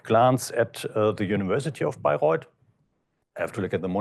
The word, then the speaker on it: Bayreuth: In Germany, you pronounce it Bayreuth and not Beirut.